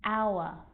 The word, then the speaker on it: hour: And sometimes it's not pronounced at the start of a word, like honest and hour.